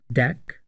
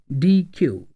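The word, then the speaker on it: deque: version of Q is called DQ which is pronounced as deck or DQ it is a collection of homogenous data items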